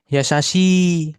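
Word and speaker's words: やさしい: Nah, ini untuk yang suara panjang I juga sama ya kayak gitu ya. Yasasi. Nah, dipanjangin I belakangnya. Yasasi tuh.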